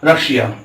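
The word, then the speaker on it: Russia: Double yes के बाद आई और ए आए तो उसका उच्चारण भी बड़ा श होता है। क्या होता है? बड़ा श होता है। यहां में देख सकते हैं रशिया।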